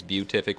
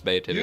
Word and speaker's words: beatific: So I always think it's beatific with a U. It's not. It's beatific.